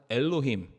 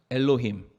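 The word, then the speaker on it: אֱלֹהִים: 단어가 우리는 번역해서 하나님이를 읽지만 원래 이것이 히브리어로 뭐라고 읽냐 아마 한번쯤 들어보셨을 거예요 따라해 보겠습니다 엘로힘 엘로힘 예 한번 들어보셨죠 하나님인데 엘로힘의 하나님이다 근데이 엘로힘이이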